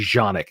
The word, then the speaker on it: Canik: Kanak and I said I know people get really butthurt about me saying Kanak I know it's supposed to be shaanak it's a C don't spell it with a see here in America and expect me to use a J that's not the way this works I speak English I don't care it's a canik tp9 get over it